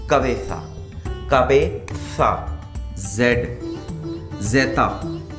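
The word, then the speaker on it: cabeza: Head को बोलते हैं ला कबेसा, कबेसा, जेड जेता, ला कबेसा, ठीक है।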